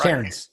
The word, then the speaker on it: Cairns: This is Todd, the Redneck Coffee Snob with Coffee Flight, and I am here with Cairns. Is that to say it right? Cairns, yeah.